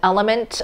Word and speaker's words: LMNT: starting carnivore so that's why i highly recommend element electrolytes it is spelled lmnt these are what the full size